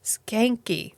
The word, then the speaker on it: Schanke: That's Officer Schanke. The C is silent. What does he say? The H is silent and the C is not.